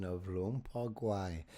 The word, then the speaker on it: Guay: We've been pronouncing it g w a y, but you are suggesting the sound is closer to g o y. Yes. Often in Oh, go for it. No, I'm saying it is g o hyphen e y as the proper pronunciation.